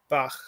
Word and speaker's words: Bach: guttural but it's it's just a slight guttural like johann sebastian bach hanukkah um the braided bread that we